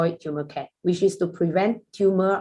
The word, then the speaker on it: Turmercare: meaning to this name we pronounce this product as tumor care rather than public will probably read it as a thermal care but we say this is a tumor care which is we developed